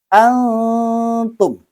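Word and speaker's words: أَنْتُمْ: Ya, setiap ada nun mati atau tanwin bertemu dengan salah satu huruf ikhfa yang 15, maka cara membacanya adalah ikhfa, yaitu samar-samar. Antum. Seperti itu.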